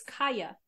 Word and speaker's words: Kaja: so it's Kaya. I was pronouncing it Kaja, Kaja.